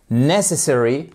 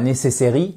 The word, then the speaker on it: necessary: It is necessary. Attention, c'est pas necessary. Non, it is necessary. Vous avez une accentuation sur la première syllabe.